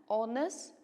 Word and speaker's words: honest: T for this one we don't say Hornets isn't that H is silent here so we pronounce honest